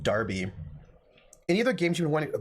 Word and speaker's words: Derby: both cities as well Darby probably is how you pronounce it yeah you probably are pronouncing it Darby any other games you